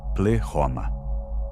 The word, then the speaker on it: pleroma: Terceira palavra, pleroma pronunciada, pleoma.